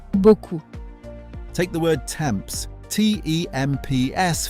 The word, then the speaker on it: beaucoup: Beaucoup, a lot. That P in the middle, completely silent. Beaucoup.